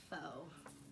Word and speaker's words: faux: That's faux. New word of the day. Do you know how to spell it?